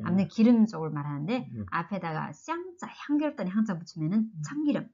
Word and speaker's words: 香: 그래서 이 향기 향자 이거 어떻게 발음하죠? 샹, 샹, 샹, 샹.